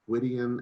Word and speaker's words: Gwydion: My name is so much easier than it looks like it is in writing, just Gwydion, and the last name is pronounced.